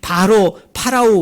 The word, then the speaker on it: 파라오: 원어대로 우리가 발음하면 파라오입니다. 이 파라오 왕을 이 모세와 아론이 찾아가서 요구를 하죠.